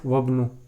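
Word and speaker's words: وابن: It is pronounced by pronouncing hamzatul wasl properly, ibnu, but here the pronunciation of hamzatul wasl is dropped. Here it is ibnu, here it is wabnu.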